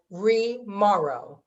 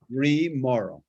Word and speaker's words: Remauro: Remauro, I know I'm horrible with pronunciation. Remauro. What's that? Remauro. Remauro.